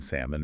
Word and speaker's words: salmon: Things like silent letters, the L in salmon or the B in climbing.